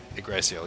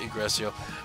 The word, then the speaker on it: Yggdrasil: Yeah, Yggdrasil, yeah.